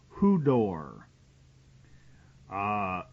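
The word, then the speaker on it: ὕδωρ: in the original Greek the word is Hu d o r and that's pronounced HUD door uh and it they believe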